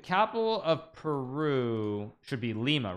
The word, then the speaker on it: Lima: It's lima bean, but yes, the capital is Lima, yeah.